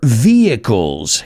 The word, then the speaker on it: vehicles: about cars today, or vehicles. Esa siempre es difícil a la hora de pronunciar. Vehicles. Yeah, la H es muda.